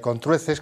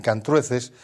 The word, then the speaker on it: Contrueces: una aldea idílica y con truces que también algunos pronuncien cant truces por aquello de que por un fenómeno de metafonia se llama un cambio de vocal la o por la a no tamb ha eso significa que ambas formas son válidas no la correcta diríamos meor que con truces no Aunque haya gente que lo pronuncia así tamp vamos quit por